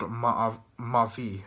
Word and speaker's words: mavi: So in terms of the colours, in Turkish, blue is called mavi, which is spelled M-A-A-V-I, and as we know, avi or ave relates to Eve and the water and the feminine.